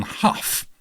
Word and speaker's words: Hough: John how one of those pronunciations who had just done escape to which mountain in 19 I'm going to go how I reckon John how I'm going to go John how how do you